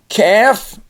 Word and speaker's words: calf: The last ones, we have the silent L. So we have calf, the little baby calf.